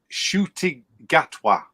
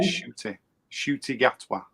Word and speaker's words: Ncuti Gatwa: His name is Ncuti Gatwa. There you go. Wait, do it again. Ncuti Gatwa.